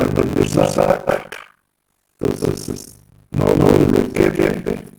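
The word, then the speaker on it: Koeppe: Este se llama PQEP, se escribe PQEP, se pronuncia Kekepe.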